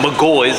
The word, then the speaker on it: McGaughy's: Yes, it is pronounced McGaughy's.